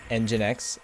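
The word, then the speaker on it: nginx: Engine X. Oh, is that how you pronounce that?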